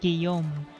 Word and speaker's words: Guillaume: The L is silent. Guillaume.